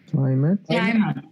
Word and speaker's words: climate: we pronounce this word climate climate climate so these letters this ending is only pronounced eight when it is a verb for example to mediate